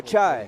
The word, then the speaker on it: Pachai: And as I understand, it's pronounced Pachai. Let's say that correctly. Pachai. Please. Thank you, Gary. Thank you. Getting my language lesson here. Pachai. Second serve, 3-wall. Accento sobre Ultima.